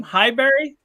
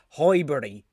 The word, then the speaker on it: Highbury: That was your old stadium, Highbury? Yes or no? You're pronouncing it like it's fucking Mayberry. It's Highbury. It's Highbury. What are the Highbury? No, yes, I thought it was Highbury rhymes with library, and that's how fucking quiet that stadium was.